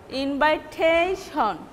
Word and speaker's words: invitation: Invite, in this word, the stress was before this syllable, but here you see the stress is tation, invitation.